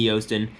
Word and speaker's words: Joosten: Stephanie spelled with an F and Joosten spelled with a J.